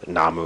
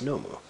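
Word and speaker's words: のむ: They namu or something. No, again, it breaks into two syllables and o plus mu. So, this is no plus moo. So it's nomu.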